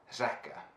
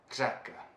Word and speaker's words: řeka: word for river in the Czech which is zakah zakah Zeca I just went the whole day just